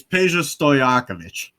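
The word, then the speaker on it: Peja Stojaković: I was about to say, do you know how to pronounce it? It's easier than you think. Um it's Pa Stoyakovich.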